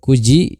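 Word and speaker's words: 九時: Kemudian kesa tadi pagi, hiru siang, yoji jam 4, shichiji jam 7, kuji jam 9. Nah, untuk selain dari 3 jam di sini, pengucapannya itu seperti biasa ya. Maksudnya gimana? Seperti misalkan jam 1 ichiji, jam 2 niji, hanya tinggal kita tambahkan huruf ji saja ya.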